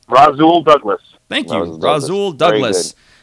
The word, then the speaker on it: Rasul: Rasul Douglas.